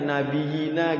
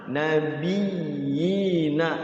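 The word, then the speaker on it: نَبِيِّينَ: cuman hati-hati gitu maksudnya, jangan sampai ini tuh dibacanya kayak nggak ada tasydidnya nabiyina gitu, karena dia kalau ada tasydid itu dia penekanan nabiyina gitu.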